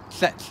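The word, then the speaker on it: tlet: This sound is represented by a TL in classical orthography, and it's pronounced tl, as in tlech, which means fire.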